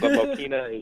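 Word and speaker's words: Mokena: town name right, because a lot of the people that have mentioned that song say like Mokina or like say it wrong. Yeah, Mokina. But yeah, I've heard that too, but Mokina is actually correct.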